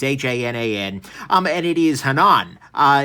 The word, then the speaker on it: Hanan: places I actually asked Spyderco how that you pronounce this thing because it's Haan um and it is Hanan i it's a semitic word apparently meaning either